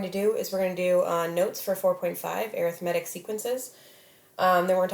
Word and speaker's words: arithmetic: Now I know this looks like arithmetic, but it's actually pronounced arithmetic sequences.